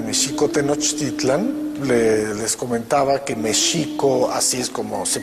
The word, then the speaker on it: Mexico: Tenochtitlan, les comentaba que Mexico, así es como se pronunciaba en el México prehispánico, la X no se pronunciaba ni J ni X, sino Sh. El acento estaba en la segunda sílaba, Mexico Tenochtitlan, no Tenochtitlan.